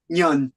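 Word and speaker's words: Ngan: how to pronounce that Nan is it Nan Negan n g n Nan how do you pronounce it that's that's my name you should say Yan okay I'm gonna type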